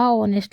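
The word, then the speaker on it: honest: ही देख लो आ ऑनेस्ट लिखा है ठीक है ऑनेस्ट है वल साउंड कर रहा है तो एन का यूज होगा ओके एन ऑनेस्ट क्योंकि ए साइलेंट रहता है तो मिस्टेक है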